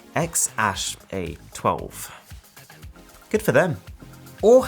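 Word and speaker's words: X Æ A-12: their favorite aircraft and it's pronounced X Ash A2 good for them or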